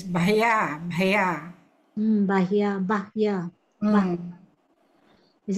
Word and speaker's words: Bhaya: Yeah, we chant Etena Satchavajena Bhaya Bhaya Bhaya. So Bhaya Upasamentu Te. We still don't drag the Bhaya. It's Bhaya Bhaya.